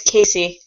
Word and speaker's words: Casey: name what's your name my name is Casey Casey like edgar cayce pronounced the same spell these are their